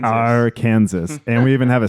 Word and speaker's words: Arkansas: we're like, no, bro, it's Arkansas. Yeah, our Kansas. It's our Kansas.